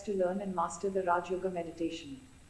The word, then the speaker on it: Raja Yoga: one of them is Raja Yoga, pronounced as Rajyog.